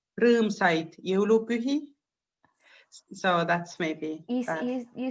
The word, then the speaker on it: rõõmsaid jõulupühi: When you wish to somebody, when we say happy Christmas time, we say rõõmsaid jõulupühi. So that's maybe. You sound like you're yodeling. Yodeling. How do you say it again? Rõõmsaid jõulupühi.